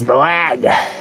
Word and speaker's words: Moag: It's Moag. It's Moag. That's how you pronounce it, Moag.